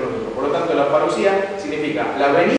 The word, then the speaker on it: parousia: Una es parucía, que se escribe parousia, pero que se lee parucía.